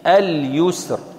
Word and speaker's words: اليسر: تدخل فيها وتحذف اللام وننطق بالشين مشددة. وأما في الياء فنقول اليمين، اليمين، اليسر.